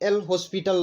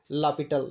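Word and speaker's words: L'Hôpital: तो इसे आप एल हॉस्पिटल लॉ ना पढ़ेंगे, यह होगा आपको लापिटल लॉ।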